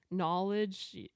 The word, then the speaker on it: knowledge: like knowledge. It starts with a K even though you don't hear Yeah.